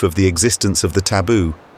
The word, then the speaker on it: taboo: the existence of the taboo they pronounce it the tafu for one woman fed